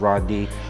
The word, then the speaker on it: Radee: my Hebrew side is it's spelled different it's r a d e e but it's pronounced r d but a lot of